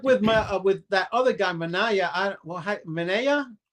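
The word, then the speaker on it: Manaea: with that other guy, Manaya, I Mana, how do you say that name? Mana. Mana. Just like that.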